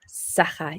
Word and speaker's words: Sakha: Sakha.